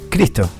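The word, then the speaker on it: Christo: Cristo.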